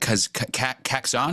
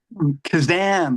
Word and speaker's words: Kazan: is it Kaxon? Is that how you pronounce it? Kazan, like Shazam.